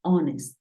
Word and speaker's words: honest: Pero hay algunos casos, como 4 palabras en las que la H es muda. Por ejemplo, hour, que es hora. Tenemos honor y tenemos honest.